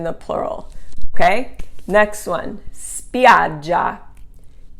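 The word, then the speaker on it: spiaggia: drop the i and that's because the accent doesn't fall on the final eye spidja the accent is here over the a so spiad j beaches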